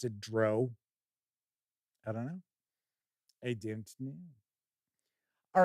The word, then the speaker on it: drow: we dive on in I pronounce the dark elves as Dr I know some folks out there pronounce it Dro and when people could